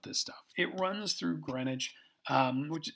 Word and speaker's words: Greenwich: prime meridian runs through greenwich england looks like greenwich it's pronounced greenwich because they're brits i don't know that's what